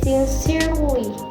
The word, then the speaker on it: sincerely: also has exception to some three-syllable word ending in ly, in which this word the stress put on the second syllable, not the first syllable. For example, the word sincerely, assembly, words ending in ec, sin, and gen.